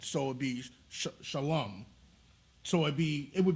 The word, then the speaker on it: Shalom: would be connected so it would be sh Shalom so it be it would be pronounced Shalom not Shala shalawam I mean other groups said I mean that's